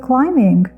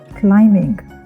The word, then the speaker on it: climbing: look at the world climbing B is not pronounced because it's a silent letter I'll repeat climbing let's continue we go